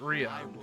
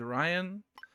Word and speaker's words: Rion: So he says it Rion. Okay. That I'm taking my pronunciation cue from him then, because other people have said Ryan. The fact that he says it Rion, that's what we're gonna roll with.